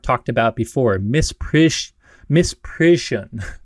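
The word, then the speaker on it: misprision: about before Miss pris Miss prison Miss prison it's hard for me to pronounce that word it's like Parisian and Mist per together but miss prison essentially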